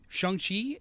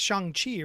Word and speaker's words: Shang-Chi: Yeah, it's not Shang-Chi, right? It's a different pronunciation. It's Shang-Chi. It's like QI as opposed to CHI, I believe.